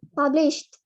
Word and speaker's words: published: Next untuk di pronunciation published. ED-nya nggak dibaca.